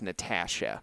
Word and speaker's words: Natasha: And I'm still struggling to pronounce the right word the right way, but it's Natasha.